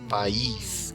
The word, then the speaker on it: país: Quando é a palavra, por exemplo, país, que tem duas sílabas, tem o A e tem o I forte, o I tem até acento para mostrar que ele é forte nessa palavra, né?